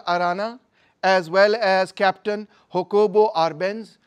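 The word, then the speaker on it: Jacobo: as well as captain हो कोबो आरब वो जे को साइलेंट प्रोनाउंस करते हैं ना ज कोबो को हा कोबो बोलते हैं तो उन्होंने मिलिट्री डिक्टेटरशिप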